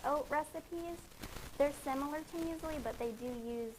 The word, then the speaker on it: muesli: But yeah, muesli.